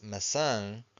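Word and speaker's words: maçãs: And this word here is massang. So we have the till the wave on top of the a final syllable. So we stress the final syllable.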